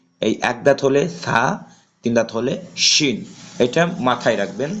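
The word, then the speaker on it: ح: ঠিক আছে তাহলে আমরা এটা হা ছোট হা চাপ দিয়ে পড়তে হবে আমি হরফের পরিচিতির সময়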